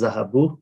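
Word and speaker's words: ذهبوا: subject is The Vow the alif after The Vow is not pronounced so it says zahabu but not Alexa is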